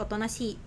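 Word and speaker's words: おとなしい: Nah ini juga i-nya sama ya, panjang jadi otonashi.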